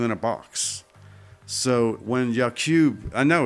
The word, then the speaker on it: Yakub: by this character named Y-A-K-U-B. To me, it's pronounced Yakub. But if you look at the phonetics there of Yakub, I'm basically saying ye, meaning you, and then cube.